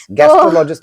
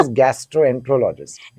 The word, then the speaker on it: gastroenterologist: गैस्ट्रोलॉजिस्ट ही बोलते हैं। हाँ, It is gastroenterologist.